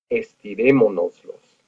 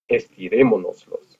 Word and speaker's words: estirémonoslos: One syllable is los, two syllables is nos, mo is the third one, and then we're going to add our accent over the E. So we get estirémonoslos. Estirémonoslos.